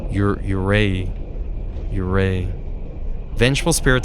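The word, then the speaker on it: yūrei: forest I probably butchered that word uray you y u re EI I there's a there's a little line above the U like an accent uray uray vengful spirit said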